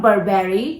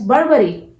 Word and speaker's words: Burberry: No guys, this is not Burberry. You have to pronounce this brand as Burberry. Burberry. It's a simple pronunciation, Burberry. Okay?